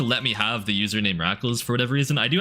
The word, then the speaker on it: Rackals: up in people's chats, they'd call me is live. Like they just read the name wrong cuz the Looked too much like an I with live after it, I guess. And is live. But nope, not not quite. Just Rackles live.